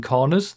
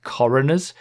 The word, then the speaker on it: Coroners: in the first place no I'm not mispronouncing cutting Corners the track name isn't Corners it's coroners since it drives around the coroner's office and the original version